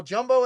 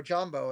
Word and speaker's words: jambo: Yeah, we'll jumbo it up. Jumbo, jumbo. Or jambo, as I should say. Say it right.